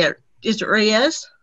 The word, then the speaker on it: Reyes: Is it Reyes? Reyes. Mm-hmm. Reyes, okay.